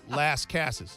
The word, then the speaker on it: Las Casas: state of tennessee now if lafayette is lafayette if santa fe is santa fe then las casas must be las cases you're you're halfway home it's last cases last cases you were halfway